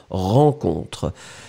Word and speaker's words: rencontre: R-E-N, hein, comme vous avez vu, rencontre. Irène, c'est pareil. Hein. Ran, rencontre.